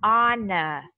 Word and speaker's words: honor: mình sẽ đọc là honor. Honor. Đúng rồi, đọc âm O ha, bỏ âm H đi.